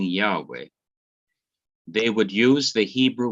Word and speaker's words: Yahweh: almost in agreement that the original pronunciation of this name is yahweh or yahweh in translation into english